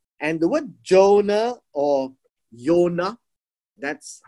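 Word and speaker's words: יוֹנָה: the word jonah or yonah that's how you pronounce it okay yonah remember in hebrew there is no j so jonah is actually a greek name so it is pronounced as yonah and jonah means dove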